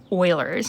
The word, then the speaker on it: Euler: is called the euler number and it is pronounced euler's named after lanhard euler and we call this